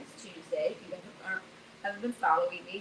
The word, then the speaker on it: Toosday: today her name is Tuesday I've been following me her name is Tuesday it's spelled t-o-o-s-d-a-y because she did and